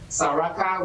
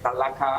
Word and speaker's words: Salaka: Is it Salaka or Saraka? Well, it Salaka, depends on how you want to pronounce it. Saraka, we use it interchangeable, but it's Salaka, I promise.